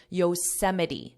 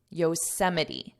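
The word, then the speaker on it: Yosemite: English spelling and pronunciation you can't learn the pronunciation from the spelling so just ignore the word listen to my voice Yos Yos Yos Yos National Park is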